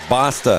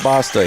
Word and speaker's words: Basta: yeah it did Basta is how we pronounce his name b a s we were told to pronounce it Basta he's got the ball